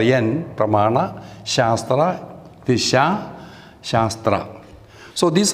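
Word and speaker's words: pramāṇa: to the diacritical mars so it is pronounced as na therefore there is a dot under yen pramana shastra visha shastra so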